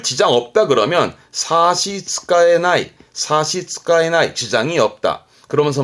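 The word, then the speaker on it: 差し支えない: 별 지장 없다 그러면 사시츠카에나이, 사시츠카에나이, 지장이 없다.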